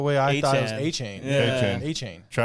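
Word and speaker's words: Etienne: Travis Etchin.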